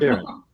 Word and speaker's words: Sharon: Sharon? Like People say Sharon? it the French way. I just prefer it Sharon, like more just normal. Sharon.